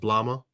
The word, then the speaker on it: Blama: It's pronounced blama. Blama. Like llama with a B on the front.